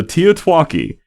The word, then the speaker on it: TEOTWAKI: beg you all right so teotwaki is the pronunciated version of the acronym the end of the world as we know it and that's just so